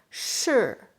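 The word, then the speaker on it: 是: tongues here and then if SH I we pronounce sure because a four stone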